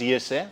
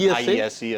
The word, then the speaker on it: IESE: Pronounced ESA, but IESE is also good.